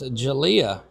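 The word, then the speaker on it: Jalah: So Skinner J A L A H pronounced Jalia.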